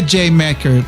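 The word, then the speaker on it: D'yer Mak'er: Por que J. Macker? Eles escreveram desse jeito aí porque a pronúncia, eu tô pronunciando errado, mas a pronúncia com o inglês britânico fica parecendo a palavra Jamaica.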